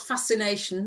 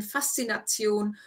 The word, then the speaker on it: Faszination: Yeah, except for it's not fascination, that's English. It is. What's the correct pronunciation? So, viele Touristen mögen die Romantische Straße, weil sie ihnen Faszination und das Zurückversetzen in alte Okay, Zeiten.